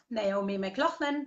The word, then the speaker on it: McLaughlan: find me on wWOZ mclaughlin calm and mclaughlin is spelled MCL so it's laughs and mcLaughlin calm and you